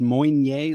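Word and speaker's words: Meunier: but uh what's the other one called pinot moynier pinot monye yeah it's uh it's spelled m-e-u-n-i-e-r it's pronounced moigne like but uh you know you can phonetically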